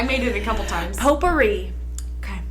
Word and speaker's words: potpourri: the Tea Company Pottery the tea is silent p-o-t-p-o now you're making